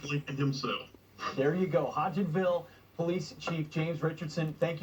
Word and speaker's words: Hodgenville: How do I pronounce that police department? Help me out. It is Hodgenville, Kentucky.